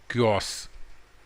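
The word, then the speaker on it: chaos: हैवोक इज ए क्योस, इसका pronunciation आप ध्यान रखेंगे, क्योस, डिसऑर्डर एंड कन्फ्यूजन।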